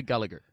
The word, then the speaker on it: Gallagher: I thought you wanted Gallagher. No, Gallagher. I think there's more romance to me pronouncing a Gallagher as an Irish man. Gallagher sounds like I'm just talking to a taxi man in Dublin who's you telling are.